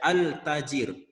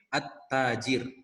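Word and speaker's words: التاجر: tidak membacanya jelas ya Jangan dibaca altajirun Lakina shohih at-taajir Bypass any atau Bu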